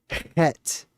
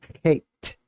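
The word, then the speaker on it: חית: Het. If you write it out, it looks like Chet. C-H-E-T. Het. Hate. Depending on your pronunciation.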